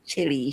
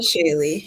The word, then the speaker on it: Shaley: Regina Chili. She has the most beautiful name. Regina Shaley, yes. Shaley. Yes, I always say name wrong.